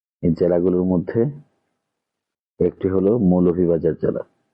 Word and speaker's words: মৌলভীবাজার: তাই আমাদেরকে নিজের জেলার নাম সুন্দরভাবে অ্যাকচুয়াল যে প্রোনাউন্সিয়েশন ওইটা মেনটেন করে বলতে হবে, তাহলে আরো বেশি ভালো লাগবে। মৌলভীবাজার, এটি আমাদের জেলার নাম। এটাকে মলইজার বা মইলজার এগুলো বলা থেকে দূরে সরে আসতে হবে।